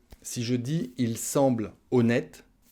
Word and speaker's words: honnête: dis il semble honnête le h en français voilà le hb muet du coup il ne va pas compter et ça va être comme une voyelle donc on va prononcer la syllabe bleus et on va dire il semble honnête il semble honnête on